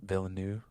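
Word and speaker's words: Villeneuve: things who is it uh I think it's pronounced da villanu but he's he's he's a really good director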